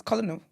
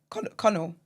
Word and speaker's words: colonel: It's colo. Conno. Nail it. Yeah, I think it's Conno. Okay. Yeah, it's Conno. It's not Colo. It's spelled Colo.